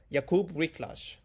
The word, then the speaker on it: Wiklacz: And hopefully I pronounced that right because I have been learning some Polish. I've been noticing some Polish. Jakub Wiklacz.